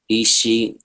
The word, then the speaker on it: Isha: Isha.